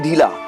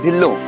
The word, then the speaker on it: Dhillo: No, it's not Mr. Dhila. It's Mr. Dhillo.